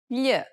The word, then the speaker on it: gli: Gli, It's a peculiar sound because it sounds somewhat like an English L, but not exactly. The problem arises when speakers begin substituting the regular L for this sound.